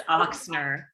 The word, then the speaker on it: Ochsner: And we also have Heidi, and I always pronounce her last name. Oh, it's Ochsner.